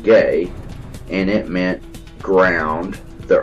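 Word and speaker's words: γῆ: word gay GE and is pronounced gay and it meant ground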